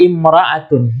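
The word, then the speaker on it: امرأة: Jadi kalau kata mar'atun dibaca tanpa alif lam, bacaannya imra'atun, ya. Bacanya imra'atun.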